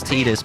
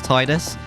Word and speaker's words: Tidus: um I was fully willing to uh admit that it's the correct is teeders but it sounds better to Tidus but then I found out that um in the in a Canon game it's pronounced Titus so there's no correct way of saying it I want to